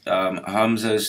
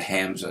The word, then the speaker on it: Hamza: Okay, so earlier I mispronounced Hamza's name. I said Hamza. That's not correct. It's Hamza.